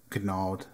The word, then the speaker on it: gnawed: I gnawed hard at my lip. Gnawed. I mean gnawed, right? You don't pronounce the G, you asshole.